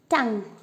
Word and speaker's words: tongue: In the second word, tongue. UE is silent.